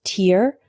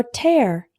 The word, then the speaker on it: tear: The word tear can be pronounced tear or tear.